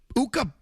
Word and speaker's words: Ukko: Uh No reason this Uka which rhymes with two this Pekka Luukkonen just likes to lift up his pad.